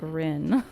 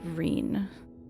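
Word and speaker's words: Ryne: It is Reen, right? This aura, what could it be? Chocobo, you can take a nap. Oh, Rhine? No, I think it's definitely Reen. Reen.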